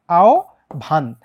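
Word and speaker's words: আহ্বান: আমরা আগে দেখছি কিন্তু এই হ এর উচ্চারণটা হবে হ এর উচ্চারণটা হবে উ এর মত হ এর উচ্চারণটা হবে উ এর মত ঠিক আছে তখন কিন্তু আর ও এর মতো হবে না তখন হবে কার মতো উ এর মত তাই আমরা যেটা দেখতে পাই যে তোমার এই হয় বের আগে যেহেতু আ হয় ব এর আগে যেহেতু আই এই হ টা হয়ে যাবে কি ও আও আও আও ভান আও ভান এবার একটা কথা শোনো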